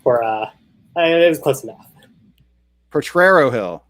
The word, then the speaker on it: Potrero Hill: Potrero Hill. Okay, yes. Missed the extra R.